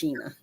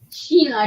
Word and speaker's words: Shana: My name is spelled like Sheena, but it's spelled like Shana, but it's pronounced Sheena. Sheena, Sheena, Sheena.